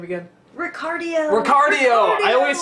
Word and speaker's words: Ricardio: Ricardio. Ricardio! I always say, I'm always about to say Ricardo, but I'm like, no, it's not that, it's Ricardio! Remember, heart, cardio.